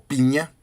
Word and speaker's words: Pigna: La escribe un gran historiador, Felipe Pigna o Piña. Con G. Pigna se escribe, pero creo que se pronuncia piña.